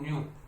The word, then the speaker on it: nu: इट is denoted by ऐसा V type का जिसको बोलते हैं न्यू, क्या बोलते हैं, न्यू, प्रोनाउंसिएशन NU, न्यू, ठीक है।